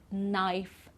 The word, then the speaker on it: knife: verb to know okay so here we don't pronounce the k like in knock knife knee and not okay so